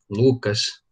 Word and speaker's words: Lukács: trabalhar um pouco de Luc né Se fosse pronunciar na no alemão e no Húngaro Mas a gente pode falar Luc Lucas sem problema vamos aqui uma guia